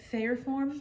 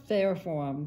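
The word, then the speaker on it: Fayerform: you pronounce it i'm sorry how do you pronounce it fair form fair form yes f-a-y-e-r-f-o-r-m and here's another look at how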